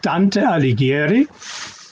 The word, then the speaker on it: Dante Alighieri: Can you pronounce it again, please? It's the Società Dante Alighieri di Würzburg.